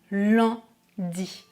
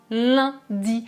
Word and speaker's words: lundi: France comme par exemple si je dis le mot Landi dans le nord de la France est à Paris on dira lundi on prononce rat ce mot en utilisant la 3e voyelle nasale est-ce que vous entendez la différence Landi lundi en la prononciation dépendra de la région dans laquelle vous vous trouvez si je dis par